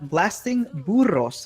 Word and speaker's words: Blasting Burros: And on the right-hand side, in the red, we have Blasting Burros. I will pronounce it with the Spanish rolling R.